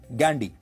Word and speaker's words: Ghandy: अंग्रेजी में वो गांधी नहीं गैंडी लिखते थे, जिसकी स्पेलिंग है GHANDY, गैंडी।